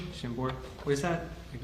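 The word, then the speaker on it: Chambord: Shambbor. Shambbor.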